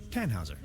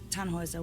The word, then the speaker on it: Tannhäuser: Tannhauser. We'd pronounce it Tannhäuser with an umlaut.